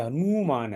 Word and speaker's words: हनुमान: अगर ये दीर्घ ना है और दीर्घ ऊ है ना पर, तो ये हनुमान है।